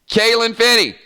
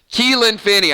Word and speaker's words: Keelan Finney: Kalen Finney. I'm sorry, Keelan. I should know this. Keelan Finney. I said it wrong.